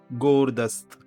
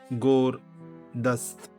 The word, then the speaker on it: гордость: Gordost. Gordost. Stress is on the first syllable. Gordost.